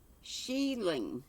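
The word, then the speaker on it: shieling: come up and tell me what you mean sheiling is how it's pronounced scottish a roughly constructed hut used with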